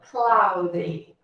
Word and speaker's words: cloudy: Cloudy. Isso. Lembra de Cláudia? Desse nome, né? Cláudia. É o mesmo sonzinho que a gente vai fazer ali. It's cloudy. Apesar de vocês verem que a letrinha O, junto com a letrinha